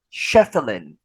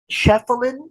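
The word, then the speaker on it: Schieffelin: this you are correct Bambi shuffling shuffling or shuffling is spelled s h i e f f e l i n Bambi shuffling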